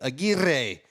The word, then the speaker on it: Aguirre: You got to roll the R. There's 2 R's there. Aguirre.